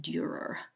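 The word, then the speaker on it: Dürer: in a grieving by the very famous Albrecht Durer that's spelled a-l-b-r-e-c-h-t Durer d-u-r-e-r if you just search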